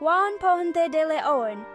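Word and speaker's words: Juan Ponce de León: Juan Pon DeLeon, pronounced Juan Ponte de Leon, explored Florida.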